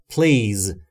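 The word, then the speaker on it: please: یعنی لطفاً و البته با تلفظ درسته پلیز نه پلیز پی و ال صدایی بینشون وجود نداره نه ا وجود داره نه ای پس ما نمیگیم پلیز یا پلیز میگیم پلیز پلیز لطفا لک اتز لطفاً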